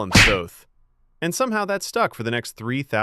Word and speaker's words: Thoth: I am Thoth, and before you ask, yes, you can call me Thoth. It rhymes with both. Or growth.